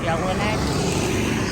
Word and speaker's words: Jelinek: I'm Jelinek. It's Bohemian. It's hard to pronounce. Jelinek, if you want to pronounce it correctly.